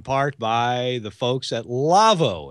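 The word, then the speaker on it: Lawo: Our show, This Week in Radio Tech, episode 233, is brought to you in part by the folks at Lavo, L-A-W-O, pronounced Lavo.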